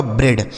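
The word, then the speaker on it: bread: तो बी आर से दोस्तों हो गया ब्र। ई ए का उच्चारण ए की मात्रा और डी से हो गया ड। यह लिखा गया आपका ब्रेड।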